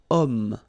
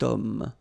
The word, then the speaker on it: homme: Remember, H is not pronounced, okay? So you've got the sound of O at the beginning of this word, okay? Cet homme.